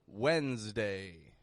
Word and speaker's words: Wednesday: S in both of these words sounds like a Z.